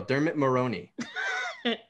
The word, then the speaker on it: Dermot Mulroney: right sandhya Mulroney the dude from new girl Dermot Mulroney I got it right I said it right